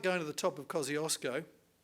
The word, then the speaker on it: Kosciuszko: to the top of kosciuszko or kosciuszko as my polish friends tell me it should be pronounced it's like going to